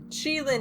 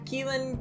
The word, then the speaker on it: Qilin: about anything first off pronunciation is chilean chilin is the name which definitely wouldn't i would not have guessed so i apologize for every time i have said keelan killen quillen villain dylan whatever